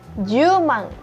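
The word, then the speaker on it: 十万: 80.000 hachimang, 90.000 kyumang, dan 100.000 jumang. Jumang, jadi 100.000 masih tetap mang ya teman-teman, tetapi kita bacanya jumang.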